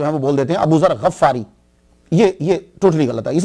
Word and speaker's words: ابو ذر غفاری: غین کے اوپر زبر اور فا پہ شد نہیں ہے. یہ اصل میں کیا ہے کہ یہ غفار ہے، غین کے نیچے زیر ہے، فا کے اوپر سمپل زبر ہے، تو غفاری. تو صحیح تلفظ یہ ہوگا ابو ذر غفاری.